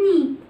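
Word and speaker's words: knee: زي كلمه ني، ركبه. ركبه الراجل اسمها ني، برضو بتبدا بالكي بس مش بنطقها، بقول على طول ايه؟ ني.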